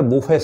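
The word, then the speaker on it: buffet: बोलते हैं बफर system बट बफर system नहीं पढ़ेंगे उसको पढ़ेंगे बफेट सिस्टम पढ़ेंगे बी डबल ओ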